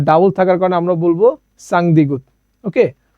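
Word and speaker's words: 쌍디귿: থাকার কারণে আমরা বলব সাং দ্বিগুত ওকে তো এই দ্বিগুতেরও সেম উচ্চারণ হবে শেষের বর্ণ ত এই দ্বিগুত যেখানেই থাকুক আপনি উচ্চারণ করবেন ত ওকে তারপরে আমরা দেখতে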